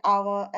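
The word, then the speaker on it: hour: एम एल ए, या कोई silent H वाला आवाज है तब हम यूज करते हैं, जैसे एन आवर, एन ऑनेस्ट।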